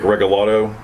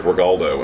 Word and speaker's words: Regalado: Vic Regalado is the guy, the police chief. I think he's still working. But anyway, I saw his name wrong, and I thought it was Vic Regaldo, and I made this